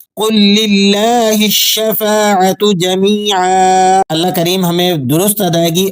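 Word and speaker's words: جميعا: جا، میم یا زیر می، جمی، عین 2 زبر عن، جمیعا۔ اب پوری آیت کو رواں انداز میں کس طرح سے پڑھا جائے گا وہ بھی سن لیجئے گا۔ قل للہ الشفاعت جمیعا، قل للہ الشفاعت جمیعا۔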